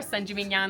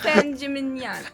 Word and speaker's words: San Gimignano: Siena with a C or San Gimignano with a ñ. San Gimignano.